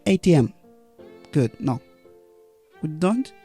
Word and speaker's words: ATM: because when we have abbreviations the rule is we stress the last letter the most for example mba great yes now stress the last word nba atm okay not atm good no we don't